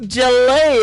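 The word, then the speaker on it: Jaillet: The artist is Luke Jalet, I think is how you say that. It is J A I L L E T.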